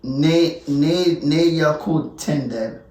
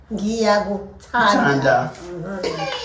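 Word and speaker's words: Ngiyakuthanda: Remember, the I is not I, it's E. Ne ya kutenda.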